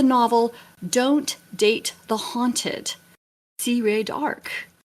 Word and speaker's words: C. Rae D'Arc: Azie dog and yes to say my name it's C Ray dark you don't need to